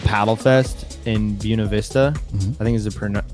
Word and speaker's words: Buena Vista: called Paddle Fest in Buena Vista. I think is the correct pronunciation. Everyone says Buena Vista, but Buena Vista, it's like southern Colorado off 285, the Arkansas River.